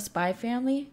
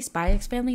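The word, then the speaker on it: Spy × Family: Because I'm a huge fan of Spy Family. Remember, guys, if you say Spy X Family, that's wrong, that X is silent.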